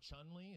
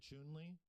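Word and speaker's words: Chun-Li: guys ever noticed that it's not chun li it's actually chewnley whenever they actually pronounce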